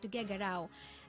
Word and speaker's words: Tuguegarao: That's actually how you pronounce it, Tuguegarao.